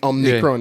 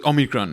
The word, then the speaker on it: omicron: right um no but there's no ns so anybody would omnicron that's not yet it's a omicron right omicron um so